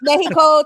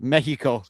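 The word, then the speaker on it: México: Like Mexico, Tejas, like that's how you pronounce the X. Yeah, Mexico. Is it the X makes a H sound, too?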